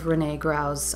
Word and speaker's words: René Gruau: And I love René Gruau's, or René Gruau, I've heard it pronounced both ways, but his fashion illustrations are fantastic.